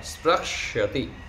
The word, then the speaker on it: स्पृक्ष्यति: स्पृश धातु का स्पृक्ष्यति, स्पृक्ष्यति ऐसे उच्चारण करेंगे।